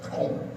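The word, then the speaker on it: כָּלֵב: 갈렙이라는 이름의 어원은 카레브라라는 의미를 가지고 있어. 카레브. 따라서 한번 해 볼까요? 카레브.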